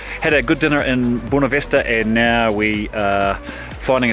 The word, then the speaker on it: Buena Vista: I'm saying that wrong. How do you say it? Buena Vista. Buena Vista. Buena Vista. Buena means good. Well, it's actually good. Buena is in Spanish. Buena. Good view.